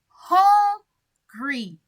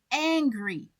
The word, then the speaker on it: hungry: Pay attention to the pronunciation. I said hungry. I didn't say angry.